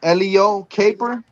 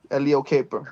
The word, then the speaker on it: Eleo Caper: It's very simple and I don't like correcting anybody on how they pronounce my name. Oh, yeah. saying? But Yeah. Yeah, yeah. It's It's Elio Caper.